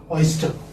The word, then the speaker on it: oyster: Oyster. Oyster. As I told you earlier, that R is not pronounced.